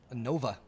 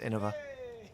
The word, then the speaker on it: Innova: And it looks like a Nova. Oh my God. Thomas. No, it's pronounced Innova.